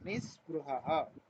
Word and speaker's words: निःस्पृहः: नी के बाद विसर्ग है तो विसर्ग का थोड़ा सा उच्चारण करना, निःस्पृहः।